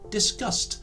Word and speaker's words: discussed: But because the end sound of discuss is the s sound, the e and d letters create a t sound, resulting in the pronunciation discussed, which of course is exactly the same as the first word we looked at.